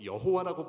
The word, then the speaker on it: 야훼: 우리는 하나님의 성함을, 거룩하신 그분의 이름을 좀 정확하게 고백하고 싶어서 이제 야훼 하나님이라고 읽는다는 것을 여러분이 아시면 되고요. 그렇다고 여호와라고 불러도 틀린 건 아닙니다.